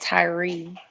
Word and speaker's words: Tyre: It seems like they've been pronouncing it Tyree.